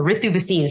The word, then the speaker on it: Ritu Bhasin: so I think but I go by the the Indian pronunciation so arithuba scene so people get really